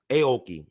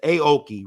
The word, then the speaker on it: Aoki: Is Aoki. See, these names are interesting to pronounce. Is Aoki, Richard Aoki.